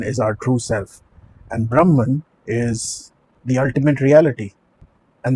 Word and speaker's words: Brahman: Advaita Vedanta, and the statement is Atman is Brahman. Atman is Brahman. The correct pronunciation really is Atma is Brahma.